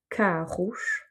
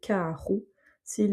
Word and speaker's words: carro: Mais en tout cas, la prononciation du O ne change pas, ça va être un OU. De la même manière, carros, les voitures. S'il est au singulier, carro. S'il est au pluriel, carros.